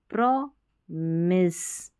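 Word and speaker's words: promise: अब यहाँ पर माइस नहीं पढ़ना है इसको, ठीक है, मिस पढ़ना है, MISE, मिस, प्रॉमिस, प्रॉमिस करते हैं, वायदा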